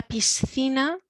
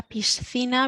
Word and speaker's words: piscina: sound at the beginning la piscina la piscina we've got the th again la pizza we've got